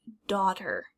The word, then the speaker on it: daughter: And lastly, we have words that have GH, but the GH is silent, like daughter, daughter.